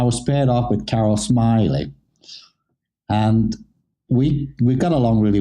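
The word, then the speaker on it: Smillie: in the actress called Carol smelly am I saying it right smiley Carol smiley smiley smiley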